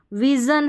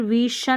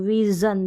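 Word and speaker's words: vision: श के रूप में विजन है अब यहां पर विशन नहीं बोल रहे विजन ज तो यहां पर भी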